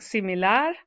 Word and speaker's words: similar: If a word ends in a consonant, like similar, then you stress the last syllable.